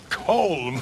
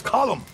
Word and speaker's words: Colm: as well it's not col col it's column in Ireland we say column well uh he likes